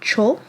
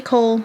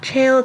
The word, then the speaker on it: Chaol: Full disclosure, for the first time I read this, I pronounced it Chol in my mind for at least 75% of the book. I have nothing to say. Maybe Chaol, maybe Cole, maybe Chol.